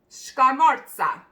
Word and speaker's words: scamorza: And I'm going to pronounce it for you. You ready? It's called scamorza.